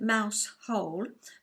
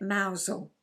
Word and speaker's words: Mousehole: we stayed in mausole it's written Mouse whole but you don't say it like that you say it mousel and we heard quite